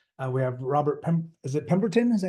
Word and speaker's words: Pemberton: We have Robert is it Pemberton? Is that how you pronounce it? Yep, Pemberton.